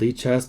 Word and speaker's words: Lichess: Is it Lichess or Lichess? It's called Lichess because it's named after Libre, which is sort of to have a what is Libre?